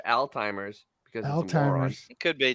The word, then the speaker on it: Alzheimer's: joke my father had Alzheimer's I never heard anybody say Old-Timers as a little kid that old saying as a little kid you thought it's Old Timers it sounds like Old-Timers yeah the first sign